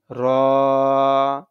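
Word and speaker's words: ر: দাল জাল জাল জাল র র র র এর উচ্চারণের সময় জিহ্বাতে কম্পন আসবে র জা জা সিন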